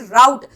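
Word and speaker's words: rout: क्या प्रोनाउंस करते हैं इसे, राउट। राउट को भी हम दो पार्ट में ब्रेक करेंगे, एक आर और एक आउट।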